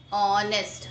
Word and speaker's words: honest: Like we pronounce an honest. Honest. We never pronounce honest. Okay, we pronounce honest. So honest is starting with the pronunciation, the speaking sound is starting with vowel.